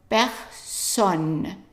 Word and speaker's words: personne: And then the next word here, remember an E preceding 2 consonants is pronounced as an A. A. So it's not P as in English, person. It's actually P. Père. Père. And the S is pronounced as an S here. So personne. Personne. Personne. And also the O is an open O.